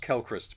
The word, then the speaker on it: Quellcrest: Is this the bit with Quellcrest? Apparently it's pronounced Kelchrist, but there we go.